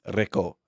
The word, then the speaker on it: Rico: It's the same name. And It's this- pronounced differently. Thank you very much. Rico. Okay, Rico. Rico. with the roll of the tongue.